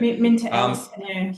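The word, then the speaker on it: MinterEllison: Minter Ellison. I think that's how you say it. Minter Ellison, yeah.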